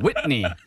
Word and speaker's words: Whitney: Whitney. 그래서 Whit 하고 이렇게 중 이렇게 한번 찔러주시고요. Whitney Houston.